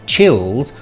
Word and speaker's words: chills: here in this line david keeps the vowel sound too long and so changes the word chills into tears or cheese have a listen and